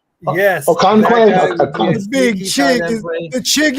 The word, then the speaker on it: Okonkwo: Then I also think a sneaky tight end play would be the one guy I can't pronounce his name. The big Chig Okonkwo. Yes. Okonkwo.